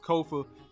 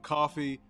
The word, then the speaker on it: Kofa: again I'm your host Kofa k-o-f-a now coffee not not Kofi or any variation thereof Kofa rhymes with sofa easy to say easy